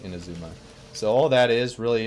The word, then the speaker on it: Inazuma: It's Inazuma. I've heard it pronounced a lot of other ways, but I call it Inazuma.